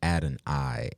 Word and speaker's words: Adoni: what's popping real quick it's add an i a d o n